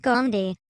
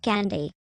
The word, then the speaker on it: Gandhi: It's pronounced Gandhi, not Gandhi.